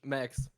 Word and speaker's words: Max: But it's actually pronounced like the English Max.